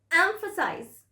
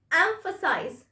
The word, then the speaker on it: emphasize: it's not like that it's on the first syllable emphasize not the last syllable emphasize emphasize so repeat